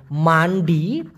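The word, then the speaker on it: mandi: দেওয়া দেখুন কানের ব্যবহার এম এ এন ডি আই উচ্চারণটা হচ্ছে মান্ডি এই মান্ডি মানে হলো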